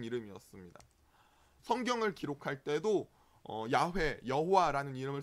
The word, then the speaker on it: 여호와: 우리가 발음하는 여호와는 이 야훼의 자음에 아까 점 4개 찍었던 나의 주님이라는 아도나이의 모음을 붙여서 여호와라고 발음합니다.